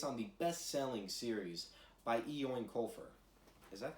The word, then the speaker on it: Eoin Colfer: Joining us live this morning from Dublin is author Eoin Colfer. Artemis Fowl is based on the beloved book series by Eoin Colfer.